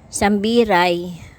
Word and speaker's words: Sambiray: lang sa malay Aklan ay corre daw pala sambiray malay ah Aklan ganon daw ang tamang pronunciation sorry